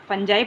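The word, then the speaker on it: fungi: फंजाई पढ़िए इसको, चाहे फंगी पढ़िए, आपका प्रोनाउंसिएशन है।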